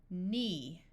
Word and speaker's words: knee: If you have KN at the start of a root word, meaning a word without any prefixes or suffixes, the K will be silent.